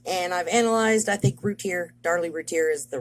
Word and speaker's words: Routier: It is the case of Darlie Routier, and I believe as much stuff as I've looked at and I've analyzed, I think Darlie Routier is the right way to say it.